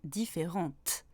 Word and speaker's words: différente: C'est la même chose pour différente. Je ne prononce pas différente, mais différente. Je prononce seulement le T.